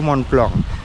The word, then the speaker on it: Mont Blanc: Mont Blanc-nya itu bacanya sebenarnya Mont Blanc. Jadi Ultra Trail du Mont Blanc.